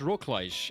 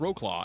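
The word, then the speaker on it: Wrocław: it works I don't understand it's actually pronounced Rockledge and every time when I when I was in Poland last they would uh they would keep laughing at me every time I said the name wrong I'd be like it's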